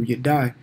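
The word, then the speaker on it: ידע: That's how you say it in Hebrew, you die.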